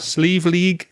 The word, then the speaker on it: Slieve League: And one of the areas I visited was, and correct me if I mispronounce this, Slieve League Cliffs. Is that correct? That's right. Slieve League Cliffs.